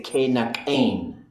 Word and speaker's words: Kayaaní: So that means every open root must close in the progressive. So that's why you say Kayaaní, and you get that N sound at the end.